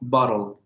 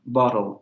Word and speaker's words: bottle: Cuando se pronuncia esta palabra, lo que ocurre es que, por ejemplo, este fonema lateral que tenemos al final se relaja tanto que se convierte en una semiconsonante con una naturaleza de núcleo silábico, porque ya no tenemos ninguna vocal. Es esta lateral la que se convierte en el núcleo de la sílaba, bottle. Y así tenemos varios ejemplos.